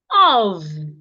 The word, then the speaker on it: of: Of. Now, OFF is pronounced off. The FF here sounds like F, off. Where the F here sounds like V, of.